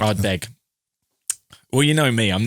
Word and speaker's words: Ardbeg: I'll just correct Ardbeg. Well, you know me. I'm never going to pronounce anything right.